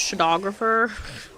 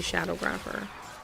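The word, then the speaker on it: Shadowgrapher: I feel like it should be pronounced shographer. It doesn't. It's definitely shadow grapper, but it looks like it shouldn't be.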